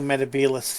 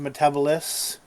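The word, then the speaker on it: Metebelis: finally makes it to metabus 3 um not pronounced metabolis uh gets a crystal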